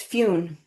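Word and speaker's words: Fionn: and he said that they pronounce Finn as Fune. And so this was many years ago, and I have taken on that pronunciation and it's stuck. And even if I try to say Finn in the story, I will likely just end up going to Fune.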